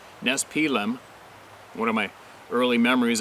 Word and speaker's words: Nespelem: We lived in a small town in eastern Washington called Nespelem, pronounced Nespelem.